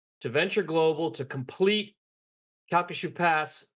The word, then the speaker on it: Calcasieu: facility in your neighborhood, and I want to pronounce it correctly. Calcasieu. You're very close. Calcasieu.